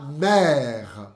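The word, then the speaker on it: mère: café para vocês por exemplo minha mãe ma mer mer Repete comigo tá assento grave assento grave assento grave o crase grave aí o crase mais grave mesmo e aberto mer La Mer la e agora uma coisa bem bem bem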